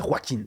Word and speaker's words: Joaquin: c'est pas Joaquin Phoenix, c'est Joaquin, c'est un R. Enfin, c'est un J, mais ça se prononce R, tout simplement.